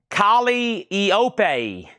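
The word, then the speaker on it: Calliope: That's pronounced Kali Eopeope.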